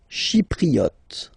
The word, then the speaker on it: chypriote: Chypriote. Remember this Y is pronounced like I, okay?